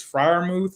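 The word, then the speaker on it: Freiermuth: know how say his name i guess it's friar mouth yeah yeah you got it right i like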